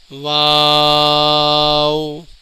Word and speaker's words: واو: آواز ظاہر ہوتی ہے۔ واو، جب ہم واو پڑھیں گے تو اینڈ میں ہونٹوں کو گول کیا جاتا ہے، اس کا صحیح تلفظ ہے واو۔ ہا، ناظرین یہ دو